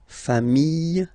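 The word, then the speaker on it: familles: Final S not pronounced fami singular form fami plural form same pronunciation s not pronounced.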